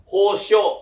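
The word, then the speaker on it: 保証: Berarti cara bacanya itu adalah hosho ya.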